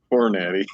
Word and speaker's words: Hornady: Hornady.